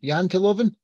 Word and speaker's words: Janteloven: How do you say Janteloven?